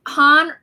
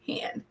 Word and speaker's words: Han: tell me correct cool thanks um is it pronounced han or hand han okay okay just want to make sure